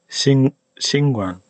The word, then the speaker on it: 𐍃𐌹𐌲𐌲𐍅𐌰𐌽: Singwan, Singwan. Now here we finally get to the one that I actually recommend. This is how you pronounce it.